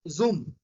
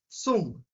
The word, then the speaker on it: zum: If we are having Z in the starting, it will sounds like S. Z, it will sounds like S. So it is not Zoom. It is not Zoom. It is Sum.